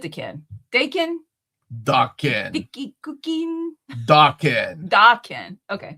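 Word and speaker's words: Daken: Dakin. Vicky cooking. Dakin. Dakin. Okay. Dakin. It's a Japanese word. Oh, okay. It means, wait, that actually really helps. I didn't know that. Dakin.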